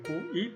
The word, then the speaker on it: qi: Se escribe QI, pero se pronuncia qi.